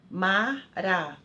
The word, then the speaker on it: maracujá: Por exemplo, maracujá, última sílaba é a mais forte.